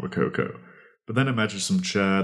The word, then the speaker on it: Rococo: That is spelled R-O-C, rock, oco, O-C-O. So it's Rococo.